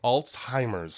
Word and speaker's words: Alzheimer's: those of you at home how is it pronounced it's Alzheimer's everyone timr I always altimers z alz h